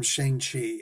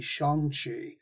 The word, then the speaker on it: Shang-Chi: We always used to always call him Shang-Chi. Everybody, including the creators, originally called him Shang-Chi. And I was like, well, the proper pronunciation, if you use the appropriate Mandarin, would actually be Shang-Chi.